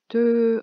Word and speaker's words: töö: And the “töö” sounds like the Hungarian “tő”.